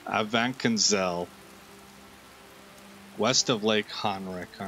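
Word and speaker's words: Avanchnzel: say that it's like it's missing a vowel a vancanzel west of lake henrik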